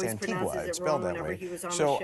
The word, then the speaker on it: Antigua: to the island of Antigga. But when you look at it, it looks like it's Antigua.